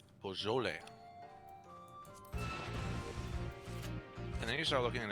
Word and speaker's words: Beaujolais: Beaujolais. Beaujolais. Beaujolais.